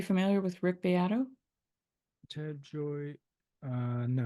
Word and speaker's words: Gioia: Ted Joy. No. It's spelled Gioia, I think.